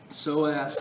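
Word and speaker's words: psoas: Soaz is P S O A S. Soaz major. Sounds like soreass major.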